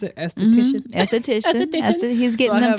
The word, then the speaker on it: esthetician: How you pronounce it? Esthetician.